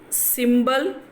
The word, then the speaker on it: symbol: And the second one, symbol, symbol, symbol, yeah, because symbol is a noun, so then the stress is in the first syllable.